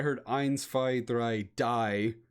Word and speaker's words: die: spy it's funny because die d-i-e is also a word in german it's just pronounced d so essentially they said